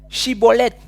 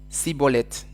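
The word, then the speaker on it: Schibboleth: Ils vont lui dire "Eh bien, dis chibolette." Et lui, il répondit quoi ? Cibolette. Et par là, ils ont compris. Ah, ils pouvaient pas prononcer.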